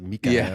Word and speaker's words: Mikael: I mean, even Michael, we've been saying Michael, but it's like Mikael or something.